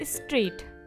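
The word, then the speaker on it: straight: तो हमारा आंसर होगा द साउंड ऑफ के इज साइलेंट, ठीक है। अब हम चलते हैं सेकेंड लाइन पे। नेबर, डॉटर, फाइट और स्ट्रेट, NAI ने, GHPOUR बर, ठीक है।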